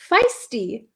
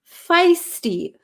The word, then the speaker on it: feisty: this word before um can you pronounce feisty feisty feisty it's like a long eye feisty we had a